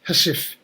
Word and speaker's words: housewife: i left the army the housewife pronounced hasif came as a khaki